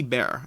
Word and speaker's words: Beer: about the fact that i just said beer b-e-e-r when it's really bare and that's fine i